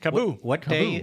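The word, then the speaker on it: KAABOO: Cabo.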